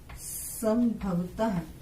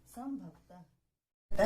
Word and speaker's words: संभवतः: ऐसे ही आ जाता है संभवतः। अब संभवतः है तो ये संभव है, तो म की आवाज आ रही है।